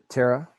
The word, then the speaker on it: Terah: All we know for certain is that Abram took, I'm sorry, what do you pronounce, how do you pronounce his name? Terah.